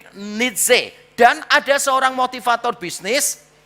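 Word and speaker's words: Nietzsche: Ini satu-satunya orang kaya yang bisa digoreng namanya Fright Rich Nitse bacanya Fred Nitze.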